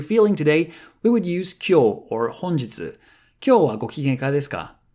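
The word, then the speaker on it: 今日: Konnichi used to be pronounced like that, to say today, but now the language has evolved, and with the same kanji or Chinese characters, we would read them kyo, kyo.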